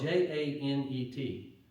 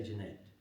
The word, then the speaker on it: Janet: Her name is spelled J A N E T but they say Janette.